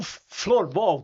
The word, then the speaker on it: floorball: E o florball, tá certo a pronúncia? O que que significa? Que que é esse esporte? É isso mesmo. É o flor ball.